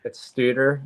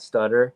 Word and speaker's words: Stuter: but it's Stuter, not Stutter. Stuter.